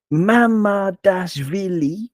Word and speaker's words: Mamardashvili: So Mamardashvili apparently is 5 syllables, and you have to pronounce them all with the equal stress.